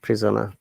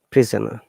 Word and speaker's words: prisoner: Let us see how do you pronounce the word prisoner. Prisoner. Prisoner. There is two schwa sound in prisoner. You see the prisoner, the O after S and E after N.